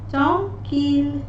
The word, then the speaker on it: tranquille: These letters at the end will be pronounced here in these exceptions. Like the word wheel, we say ILLE, but here we say fee, like in the word fee.